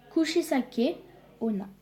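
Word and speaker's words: 口裂け女: Ensuite, en fait, ça se prononce Kushisake Onna.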